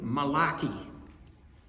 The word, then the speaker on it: Malachi: call the Old Testament from a prophet named Malaki. in the Hebrew. In uh in New York, there was a a church that named themselves after, but they they must have been Italian. They they pronounced it malachi.